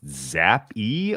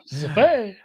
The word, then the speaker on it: Zappe: So is it pronounced Zap-E or Zap? It's French. It's French. Zappe? Zappe.